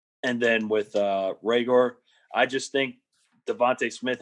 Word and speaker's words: Reagor: Hey, it's pronounced Reagor, just like Ty said.